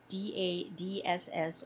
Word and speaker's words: DADSS: an emerging technology called DADSS, or Driver Alcohol Detection System for Safety. Note that it's pronounced dads.